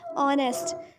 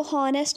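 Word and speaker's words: honest: ऑनेस्ट, इसको हॉनेस्ट नहीं पढ़ेंगे, एच इज़ साइलेंट.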